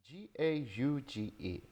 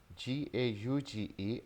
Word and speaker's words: gauge: GAUGE, so written as GAUGE and pronounced as gauge, gauge.